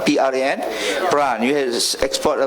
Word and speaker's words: Pran: Maybe Bangladesh can focus on, I saw they already have brand like Pran, right? How to pronounce? P-R-A-N?